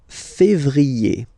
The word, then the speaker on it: février: Then comes février. Février. Okay, remember when you have this accent aigu on the top of then you pronounce it e.